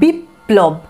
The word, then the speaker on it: বিপ্লব: তারপরে দেখো বয়রস্যি পয়ে লয়ে ব, এখানেও মাঝে আছে পয়ের সাথে, তাহলে উচ্চারণটা কেমন হবে, বিপ্লব, দেখছো পয়ের এখানে কিন্তু যে দুবার উচ্চারণ, দ্বিতীয় উচ্চারণ সেটা কিন্তু বোঝা যাচ্ছে, বিপ্লব, অথচ লয়ের উচ্চারণটাও কিন্তু